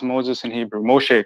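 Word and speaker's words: משה: is in their letters huh how do you pronounce moses in hebrew moshe correct no problem how how he became okay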